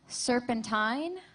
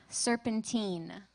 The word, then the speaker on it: serpentine: Your word has two pronunciations, serpentine, serpentine.